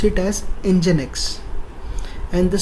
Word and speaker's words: Nginx: Now it has its own server called, we pronounce it as Nginx, and the spelling is Nginx.